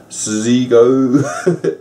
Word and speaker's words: Seego: to pronounce this name it is zigo said s-e-e-g-o dot com we don't